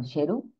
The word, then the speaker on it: Sheru: con con error Okay no era sar sino sheru y la traducción de sheru